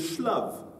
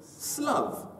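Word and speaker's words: שלו: Alors, si c'est écrit avec un shin, on pourrait dire shlav. Oui. Mais on le prononce avec un samer slav.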